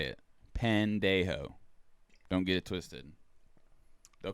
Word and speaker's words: pendejo: an pandey ho that's it that's exactly how you say it i live in a town with probably 50 latino residents that is how you say it pandejo don't get it twisted